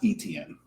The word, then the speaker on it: Etienne: Like they had probably likely have more faith in and it's pronounced Etienne.